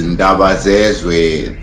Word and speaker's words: Ndabazezwe: It's pronounced as Ndabazezwe. Ndabazezwe is a Zulu.